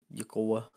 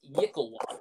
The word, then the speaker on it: Yklwa: Oh, it's Yicklewa, but I was close.